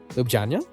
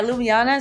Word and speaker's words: Ljubljana: little tidbit too is doing summer school in Ljubljana? Yeah, is that I pronounced it right? Well, yeah, Ljubljana. So Ljubljana.